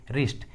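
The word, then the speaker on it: wrist: डब्ल्यू का आवाज़ नहीं आ रहा है, डब्ल्यू साइलेंट है। रैप एंड राइट। उसी तरह रिंग, रॉन्ग, रिस्ट।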